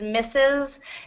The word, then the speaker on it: Mrs: yeah yep so when when the S is there it's misses and I don't know why there's an R um I'm sure there's a historical reason but we no longer pronounce the are at all so all right um